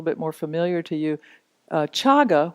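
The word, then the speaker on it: cāga: more familiar to you chaga which is spelled CA GA means not holding on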